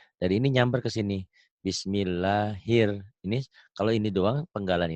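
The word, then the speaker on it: بسم الله الرحمن: salah dalam bunyi ya Ini bukan Ra tapi ro ini jadi harusnya di sini nulis nulisnya ya bukan bismillahirrahman tapi di sini Bismillahir hirnya Kan dari nyambar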